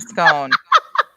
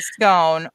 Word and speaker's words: scone: on first on a scone also whether you pronounce it scone or as in gone as in gone or scone as in cone as long as it's